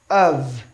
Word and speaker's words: of: Although, thoroughly, trophy, of. So option C is pronounced trophy. That is the fee. While the F you see here is pronounced V.